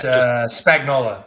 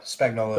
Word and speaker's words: Spagnola: Oh, it's Spagnola. Spagnola is his name.